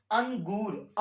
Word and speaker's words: अंगूर: जैसे अंगूर, आधा न, गुर, अंगूर आ रहा है ना, तो आधा न आ रहा है, इसलिए हम अंगूर बोल रहे हैं।